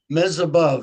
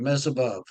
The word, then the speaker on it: Mesibov: I don't want to mispronounce it. Mesibov, as if you're looking at the ceiling. Mesibov. Mesibov.